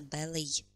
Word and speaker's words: ballet: Итак, an opera, опера, a musical, musical, a ballet, буква Т в конце не произносится, ballet, a ballet, балет, a play, какая-то постановка, a pop-rock concert.